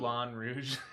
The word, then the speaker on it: Moulin Rouge: Moulin Rouge. Yeah. I mean, that's how it's pronounced.